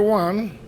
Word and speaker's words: au: So, au you pronounce it O. So, where does that come from? Well, it comes from in between parentheses a plus low like instead of saying